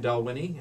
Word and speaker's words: Dalwhinnie: Now, the proper pronunciation again, Dalwhinnie, and all of those listeners who drink Scotch.